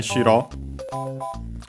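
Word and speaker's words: 城: And then shiro as you have seen this very series uh because of the previous one. Yeah. It means a castle. An accented not to be confused with shiro.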